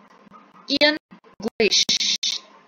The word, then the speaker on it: English: English. English. Primera sílaba.